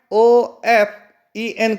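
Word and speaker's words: often: मतलब होता है अक्सर जो ऑप्शन वर्ल्ड है उसमें जो टी होता है वह साइलेंट होता है उसको नहीं पढ़ा जाता है हमको केवल पढ़ना है ऑफेन को पढ़ना है और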